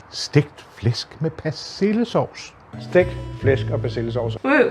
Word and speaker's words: Stegt Flæsk med Persillesovs: You don't. You mumble it. Even the Danes mumble it. You can't. Look, listen to this. Stegt Flæsk med Persillesovs. Stegt Flæsk med Persillesovs.